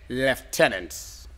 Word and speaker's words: lieutenant: the spellings we're rolling now spell the word leftenant say say that again the word leftenant an liutenant yes okay l i e u t e